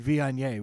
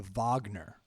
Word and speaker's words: Viognier: Upper Shirley Vineyard, and I kept calling it the Wagner. And if you look at how it's spelled, yeah. there's a G Yeah. in there, and there's an N. It's kind of like it I could. mean, it's Viog Looks like vinegar. Nier.